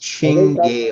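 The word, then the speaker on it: Cinghiale: You are now at the home of this Singhale, pronounced Chingale.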